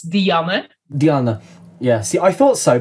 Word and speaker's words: Dianne: i do the full thing because it's not diane if you want to pronounce it in dutch it's diamond diana yeah see i thought so but i had